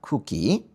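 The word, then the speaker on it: 空気: 여기 보시면은이 끝에 나오는 이응은 발음이 되는게 아니라 이거는 장음이 돼요. 보통 이제 우가 되거든요. 그리고이 앞에가이 앞에가 이게 뭐 코가 되거나 쿠가 되거나 그래요. 공기는 쿠끼입니다. 쿠끼.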